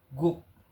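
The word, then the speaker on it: 국: Contohnya nih, Gook. Guk kan harusnya kan G tapi karena dia terletak di akhir maka jadi K.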